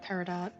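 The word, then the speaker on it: peridot: the only reason I knew how to pronounce uh paradot to be perfectly honest cuz there was like a nonzero chance that the te was silent as it sometimes is haven't heard the term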